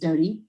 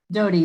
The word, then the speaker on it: Dottie: well good morning um my name is pronounced dodie uh so i'm here don't excuse me did you say dodie dodie like bread dough with the ty on the end okay thank you i